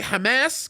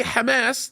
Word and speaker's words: Hamas: to the issue of the way I pronounce Hamas whether or not I say Hamas because that's what you're probably talking about when I say Hamas that's what we say in the Arabic language my mom and my